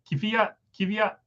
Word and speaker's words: Fiat: Bumblebee says it's pronounced Daniel Fiat. So Fiat. Trying.